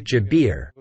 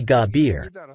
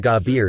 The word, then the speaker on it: Jabir: Nowadays, the Syrian pronunciation Jabir and not the Egyptian Gabir is in use. Egyptians don't use the J sound.